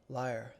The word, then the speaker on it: lyre: How to pronounce Lyrie? Liar. Liar? Liar. Okay then. Right, well... Oh, I get it. The Lyre of Ire. Right, it's supposed to rhyme.